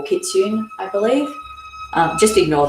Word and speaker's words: kitsune: i said i think the japanese call it kitsune i'm not even sure if i've pronounced that correctly but we'll go with that i think they pronounce the e at the end but don't quote me